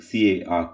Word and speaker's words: car: We have normally in a word like C-A-R, car, in the final position, R is silent.